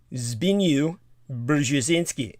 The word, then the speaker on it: Zbigniew Brzezinski: And so the man you're talking about, his name, I believe, is pronounced Zbigniew Brzezinski, and it's almost impossible to pronounce.